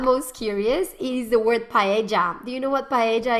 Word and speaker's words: paella: that the actual way to say that is paella then people are like no it's not paella well then i'm going to have to be